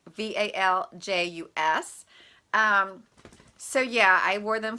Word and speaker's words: valgus: I hope that's how you say it. It's VALJUS.